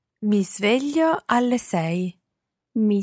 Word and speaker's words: sveglio: Isla, listen again to exactly how Francesca pronounces the S of sveglio. Mi sveglio alle sei. Mi sveglio alle sei.